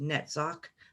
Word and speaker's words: Netzach: spheres of tith and hood and this is pronounced netzach that AG is silent at the end hood